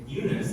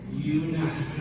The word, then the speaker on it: Younus: I would say Younus, like you and us, right? Younus, right?